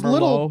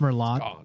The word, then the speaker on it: Merlot: about and those yeah like you like a Mero you you love a dry Mero I do